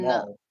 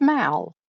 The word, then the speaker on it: Mal: Maul. What was that? It's Mal, not Maul. But it's so close to Darth Maul.